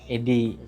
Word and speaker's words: ADDIE: Tapi kalau di bahasa Inggris kan bacanya EDI gitu.